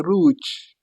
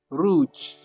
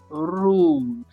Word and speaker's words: rouge: Rouge. Rouge. Please, you push it from your throat. Rouge. The R comes right from your throat.